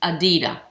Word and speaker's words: Edyta: And it's pronounced Adida.